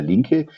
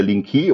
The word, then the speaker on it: Linke: Also, as you pronounce it in German, you would say Peter Linke. In English, it's Peter Linke, or in Americans, they say a E.